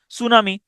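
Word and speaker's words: tsunami: যেসব শব্দের প্রথম বর্ণ উচ্চারিত হয় না যেমন সুনামি এটা হচ্ছে টি সুনামিচ উচ্চারণ হয় না।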